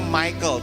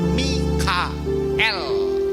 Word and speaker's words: Mikael: paling depan ini ya bahasa Inggrisnya ngomongnya Michael tetapi bacanya sebetulnya Mikael ya bukan m m ya Nah Gabriel belakangnya